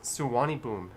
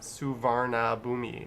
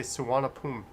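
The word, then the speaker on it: Suvarnabhumi: it but wow and that is pronounced suwani boom if you're wondering not suvarna bhumi it's suwani boom or they say suwanapum yeah i'm not even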